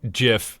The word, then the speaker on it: GIF: haven't changed my mind it is absolutely GIF because the Creator called it gif he's dead so he